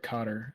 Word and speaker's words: Qatar: Qatar is like Cotter, is closer to the real pronunciation.